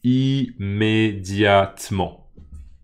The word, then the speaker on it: immédiatement: Peut-être que théoriquement, ce mot a 5 syllabes. Mais moi, je peux vous dire que quand je parle et que quand je l'entends, les gens disent immédiatement. Immédiatement. En 4 syllabes.